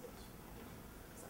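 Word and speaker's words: Joost: His real name is Yoast, J-O-O-S-T, you know, but people pronounce it Yoast.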